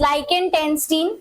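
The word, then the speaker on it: Liechtenstein: के नाम है इट्स लाइकेन टस्टीन ओके इट्स लाइकेनस्टीन जो नाम है और दूसरा है हमारा लिथ्व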